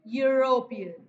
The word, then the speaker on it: European: But here E letter is not pronounced in the same way. What is its pronunciation? European. Means it sound Y.